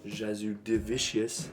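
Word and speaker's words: Jasudavicius: so I'm going to take Charles jordane Jasmine jazu divicious that's how you say it she's winning my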